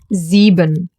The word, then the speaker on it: Sieben: S at the beginning of a word, pronounced as a Z. The diphthong IE, pronounced like a long, slow E.